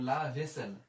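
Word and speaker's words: la vaisselle: আর যেহেতু দুইটা এস আছে এই কারণে আমরা ছয় নিলাম, আর ও দোজেল ও, তাহলে আমরা নিয়ে নিলাম সেল, তাহলে লা ভেসেল, লা ভেসেল।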